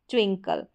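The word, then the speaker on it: twinkle: एंकल स्प्रिंकल पिकल और spackle यह है ट्विंकल। इस तरीके से ये जो है के एल ई वाली स्पेलिंग हो गई जिसका उच्चारण कल करके हो रहा है।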